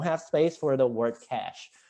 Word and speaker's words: cache: uh in our architecture we code it cach c a e and uh the uh the pronunciation is very similar to well it's the same as cash so that's why I